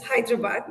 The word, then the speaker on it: Hyderabad: surname correctly chitam and it's Hyderabad not you know whatever the Pres pronunciation was I'm going to try